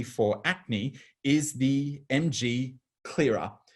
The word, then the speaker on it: Clearer: Moving on, we now see that the perfect treatment, particularly for acne, is the MG Clearer. The CLR is pronounced Clearer, and this will take over your classic DP dermaceuticals of using the Clearer lotion plus the Hyalactive combined together.